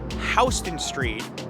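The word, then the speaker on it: Houston Street: City is this one how would you pronounce it it's pronounced hon street named after William HST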